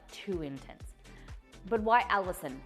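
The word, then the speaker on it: allicin: After a while, that Allison will start to kind of fall off and the flavor kind of begins to kind of mellow, and that's what you want.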